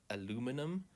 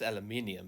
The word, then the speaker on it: aluminium: But uh Americans say uh aluminum. It's actually I mean it's aluminium because there's clearly an eye here.